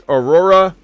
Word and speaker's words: Orhorhoro: I think it's pretty easy to pronounce, actually. It's Orhorhoro.